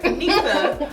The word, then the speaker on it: Anisa: It's Chime, and I'm here with Anissa. Did I say your name right? Anisa. I always mess it up, and I feel like you never correct me when I say it wrong.